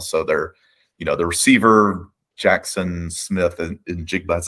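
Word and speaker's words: Smith-Njigba: So they're, the receiver, Jackson Smith and Jigba, that's how you say his name, who hasn't played much this year, right?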